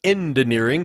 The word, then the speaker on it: Endineering: And no, I did not mispronounce head of engineering. It is actually the head of Endineering.